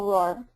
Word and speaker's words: Rohwer: It's roar, just like a lion or a tiger roars. Okay, Rohwer.